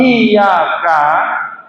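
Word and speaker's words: إياك: Kalau saat kita baca iyyaka na'budu wa iyyaka nasta'in, itu tidak kita beri tasjid tetapi dibaca enteng iyyaka na'budu wa iyyaka nasta'in, maka cara baca semacam itu lam tasjid qiroatuhu, bacaannya tidak sah.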